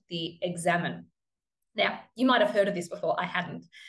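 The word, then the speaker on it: Examen: said, oh, I've started praying this prayer, the Examine. And he said, no, it's pronounced the Examon.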